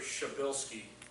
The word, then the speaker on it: Shabilsky: And remember, Shabilsky is the way to pronounce his name, because when you read the way it's spelled, it's one of those incomprehensible names that we just love to make fun of all the time.